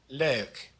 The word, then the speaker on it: leuk: The EU blend is also kind of a hard one. It's pronounced ow, as in leuk.